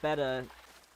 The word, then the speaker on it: betta: I pronounced it like beta for a very long time, too, but there's two T's. Beta, like the Greek alphabet, is spelled with one T. So it's beta.